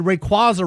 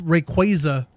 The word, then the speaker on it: Rayquaza: Apparently I've always said Rayquaza wrong. It's Rayquaza.